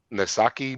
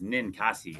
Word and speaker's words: Ninkasi: I we were speaking about this before recording, and I mispronounce the name every time. What is the brewery again, there, Dan? I believe it is Ninkasi is how they pronounced it. Okay, Ninkasi Brewery.